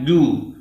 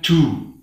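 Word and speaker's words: جُوعٍ: Ini yang benar membacanya ju, bukan ju. Saya ulangi, ini yang benar membacanya ju, bukan ju.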